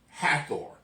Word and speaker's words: Hathor: against the goddess of Hathor. No, it's like Heather, like we would say Heather, but Hathor. Yes, it was against the goddess of that's why I had to think about it, because we would pronounce it Heather.